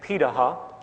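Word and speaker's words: Pirahã: We know this today because of anthropological research done on remaining hunter-gatherer societies around the world, such as the Pitaha, which is how it's pronunciated, out of Brazil.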